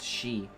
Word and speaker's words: Xi: I know is like Zed or XI is pronounced she but thank you for that the Q is